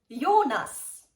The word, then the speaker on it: Jonas: let's start with the first one this is pronounced Sandra Sandra Lucas Lucas Hana yonas Jonas gizela gizela now to another topic thank